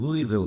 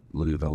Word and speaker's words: Louisville: Mike in Louisville, Kentucky, or to pronounce it correctly, people in Louisville know this, that if you're from Louisville, you don't pronounce it Louisville.